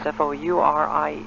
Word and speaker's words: Fourier: And just as we've been talking about getting into the Fourier equations, F-O-U-R-I-E-R, and I believe it's pronounced Fourier.